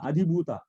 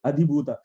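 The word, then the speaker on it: अधिभूत: Adhibhuta. Not Dirgha. Adhibhuta. Dirgha is not there. Adhibhuta.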